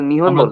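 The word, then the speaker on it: 日本: নিপন নিপন আগে বলতো আর এখনো জাপানে যারা বয়স্ক এরা নিপন বলে কিন্তু যারা ইয়াং বা হচ্ছে ইয়াং চেয়ে ধরেন আমাদের আঙ্কেল টাইপের মানুষ এরাও নিপন বলে না এরা নিহন বলে কিন্তু দাদা টাইপের মানুষ যারা এরা নিপন বলে স্যার বুঝতে পারছি যাই হোক কিন্তু কাঞ্জি কিন্তু সেম নিহনের কাঞ্জি আর নিপনের কাঞ্জি সেম জাস্ট উচ্চারণটা পার্থক্য জি স্যার বুঝতে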